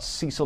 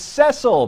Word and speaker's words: Cecil: comment from mike about cecil the lion or cecil excuse me mike says rick unger gave away his age again 53. the zimbo lion's name was cecil pronounced with a short e i guess rick watched